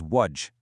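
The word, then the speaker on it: وجه: This is wajj. It means face. That sound at the end is a soft h sound, almost like a sigh.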